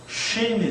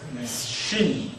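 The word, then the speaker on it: שִׁין: 시옷 발음이죠. sin. 그 다음에 점을 오른쪽으로 옮기면요. shin이 됩니다. C하고 she하고는 다르죠. shin.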